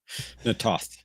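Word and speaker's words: Na'Toth: Natoth is usually how you hear it.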